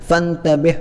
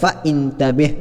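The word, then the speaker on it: فانتبه: അതുകൊണ്ട് തന്നെ ചേർത്തി വായിക്കുമ്പോൾ ആ ഹംസ നമ്മൾ ഉച്ചരിക്കാറില്ല, ഫൻതബിഹ് എന്നാണ് നമ്മൾ പറയാറുള്ളത് എന്നതല്ലാതെ ഫ ഇൻതബിഹ് എന്ന് പറയാറില്ല.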